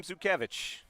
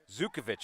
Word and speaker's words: Zukovic: Here's the pitch from Zukevich. He'll take that pitch up for a ball. It's pronounced Zukovic, I'm being told.